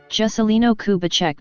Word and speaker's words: Juscelino Kubitschek: jessilee no kubacheck de Oliveira Portuguese pronunciation September 12th 1902 August 22nd 1976 known